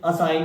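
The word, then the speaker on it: assign: जब जी और एन दोनों एक साथ मिले तो जी को साइलेंट कर देंगे। तो ASSIG, यानी देखिए जी के तुरंत बाद एन है और एन के तुरंत पहले जी है, तो क्या बोलेंगे? असाइन।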